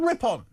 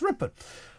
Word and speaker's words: Rippon: It's not Rip-On, it's Rippon.